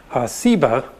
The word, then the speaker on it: Seba: related that has just the different s sound Seba and ugly explains that